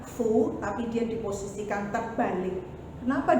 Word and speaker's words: 福: Nah, biasanya kebahagiaan itu kalau karakter ini, ya, kalian mungkin masih ingat bacanya fu, tapi dia diposisikan terbalik.